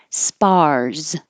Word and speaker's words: spars: as in hit Vineyard spars this last s looks like an S sounds like a z but open your mouth enough that you have the good ah vowel spars spars and six